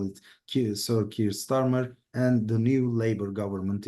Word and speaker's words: Keir Starmer: And now, as Ozan Hocam mentioned, we have the Keir Starmer, that's how the British pronounce it mostly, government.